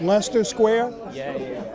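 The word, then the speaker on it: Leicester Square: Pronounced Lester Square all around there.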